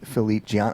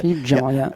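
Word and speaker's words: Philippe Djian: my part, I was not really aware of Philippe Gian. Am I even pronouncing the name correctly? Yeah, good. Philippe Gian, yeah.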